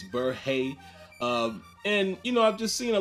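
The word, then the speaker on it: Berhe: And now I know how to pronounce his name. It's Burhay.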